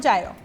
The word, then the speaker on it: gyro: pork gyro pronounced gyro in Greece which means to turn